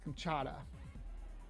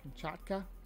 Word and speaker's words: Kamchatka: the chocolate or com how do you say this kamchata Kamchatka there you go kamchaka the gymkaka brown